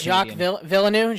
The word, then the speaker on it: Jacques Villeneuve: I want to see if you can pronounce that name. What is it? Hillbilly just sent. Is it French? It's Jacques Villeneuve.